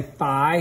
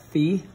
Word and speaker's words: phi: it says secant of we say Phi here in America but most other countries pronounce that fee the Greek the Greeks pronounce it fee I believe we say